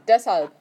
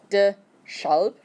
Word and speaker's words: Deshalb: Deshalb. Okay, so when you pronounce it, it's not de-schalb. The SH has to have that C in the middle in order for it to be a sh sound.